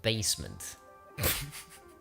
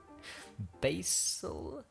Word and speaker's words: basal: We're in the epidermis, in the stratus basement. Basal. I pronounced it wrong, but I knew the spelling.